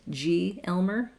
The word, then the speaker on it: glmer: I'm pretty sure whoever wrote this meant G Elmer as the way it should be pronounced, like generalized Elmer, but to me it looks like glimmer.